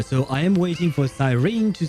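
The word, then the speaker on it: Cyrene: Ah so she says Sirene very well in that case I shall pronounce it Sirene.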